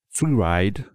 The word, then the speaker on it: freeride: Freeride, voilà, je prononce à la française parce que sinon on ne sait pas qu'il y a des R.